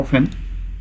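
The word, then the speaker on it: often: তো এখানে কাজের পরম্পরা বোঝাতে সবসময় তোমার হাউ অফেন দিয়ে করতে হয়, তাহলে হাউ অফটেন বা অফেন দুটো উচ্চারণ কারেক্ট।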